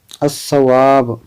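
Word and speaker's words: الصواب: जैसे एक है अल सवाब, तो इसमें अलिफ लाम को नहीं पढ़ा जाएगा, इसको क्या पढ़ा जाएगा, अस्सवाब, है ना, इस पर तस्दीद लगा देंगे।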